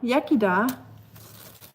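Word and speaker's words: Iechyd da: Yakida, it's pronounced Yakida.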